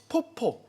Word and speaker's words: 포포: 포모 아니고요. 포포. 이게 약간 귀엽게 발음을 해야 네, 되죠.